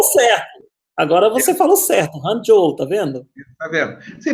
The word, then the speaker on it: Hangzhou: Hangzhou, tá vendo?